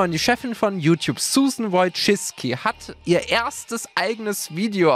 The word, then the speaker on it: Wojcicki: youtube hat es in das video von susan wojcicki geschafft und ja sie wird tatsächlich so ausgesprochen es handelt sich hierbei um julien bei